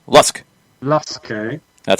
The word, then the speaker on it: LASK: Our Austrian club in question is pronounced like Lusk, not Lask, or not Lask. Lusk.